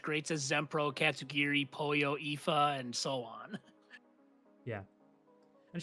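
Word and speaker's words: Aoife: There was the sushi speedrun story from last year involving such greats as Zempro, Katsugiri, Poyo, Ifa, and so on. Yeah. And shout out, you pronounced Ifa correctly.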